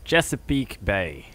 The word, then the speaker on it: Chesapeake Bay: Chesapeake Bay.